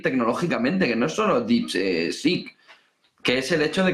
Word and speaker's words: DeepSeek: Lo ha pronunciado como es, DeepSeek. Si lo haces como lo ha hecho la de Televisión Española, que ha dicho que era DC, DC. como AC/DC, ¿entiendes?